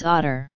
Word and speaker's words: ODA: The otter was the association's mascot because of the possible pronunciation of ODA as otter.